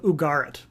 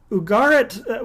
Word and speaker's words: Ugarit: texts discovered in 1928 from the kingdom of ugarit uh ugarit well sometimes said ugarit ugaritic or ugaritic just